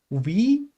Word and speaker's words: Wie: "We get es ihnen" exactly, "Wie geht es Ihnen?"